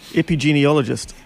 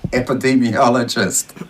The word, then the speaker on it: epidemiologist: get it you know you said it wrong just a couple seconds ago say it again epi genealogist yeah that's not bad what is it epidemiologist beam what do you